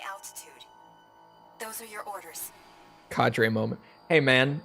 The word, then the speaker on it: cadre: kadre moment hey man don't tell me Tell Oxford dictionary that their pronunciation is bunk don't blame me for this I went straight for the dictionary and that's how they pronounced it this isn't on me CAD be enter the